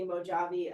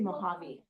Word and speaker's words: Mojave: people say that yeah it's actually a Spanish word and in Spanish the J makes the H sound so it's actually Mojave Mojave it's very close